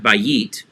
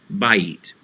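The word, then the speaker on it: בית: looks like a bite how do you say house bite not by eat bite bite sounds like a bite of food so when we see that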